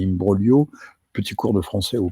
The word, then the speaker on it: imbroglio: euh c'est liimbrolio liimbrolio ça se prononce comme ça pas imbroglio mais imbrogio petit cours de français